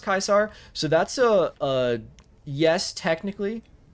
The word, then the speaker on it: Caesar: Wasn't Caesar pronounced Kaiser? So that's a yes, technically. It's, yeah, basically. That's where it comes from, I think. If you've ever played the game Fallout New Vegas, they pronounced Caesar Kaiser there.